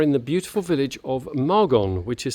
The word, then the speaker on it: Margon: Back in the south of France in the Languedoc-Roussillon or Occitanie region, and today we are in the beautiful village of Margon, which is spelled M-A-R-G-O-N.